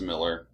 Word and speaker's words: Millar: I think it's Miller. I think it's Miller too, even though it's spelled A-R.